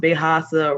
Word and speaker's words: Bejasa: Bejasa, and that is emphasized, pronounced Bejasa rhymes with Mufasa.